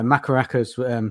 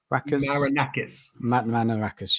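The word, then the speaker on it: Marinakis: You know, Makaraka's, sorry if I pronounce his name, was his name Manarakis? Manarakis, yeah, sorry.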